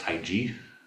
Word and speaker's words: Tai Chi: Tai Chi, as he's adamant of letting you know it's pronounced Tai Chi with a J.